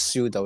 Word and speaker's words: pseudo: Oh yeah, simply pronounces pseudo, isn't it? Somehow it always pronounces persuado. Yeah. Pseudo, there we go. Yeah. Pseudo, either pseudo or pseudo. I don't know why. Yeah, basically the P is silent, yeah.